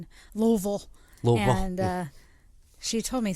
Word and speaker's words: Louisville: I mean, my dad's from Kentucky, and I've always called it Louisville. So I don't know. Never had an S. I mean, it's got an S, but I never pronounce it with the S.